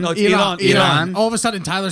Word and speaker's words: Iran: Iran. No, Iran. All of a sudden, Tyler started saying it the right way. I'm trying to be He's never precise. said Iran. He's never said Iran.